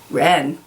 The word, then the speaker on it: wren: note you have some silent W is here W but you really say Wren and the same goes